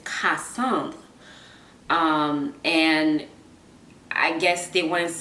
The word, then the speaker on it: Cassandre: came to the US my teachers did not know how to pronounce my name so they say Cassandra whereas in French is costumed and I guess they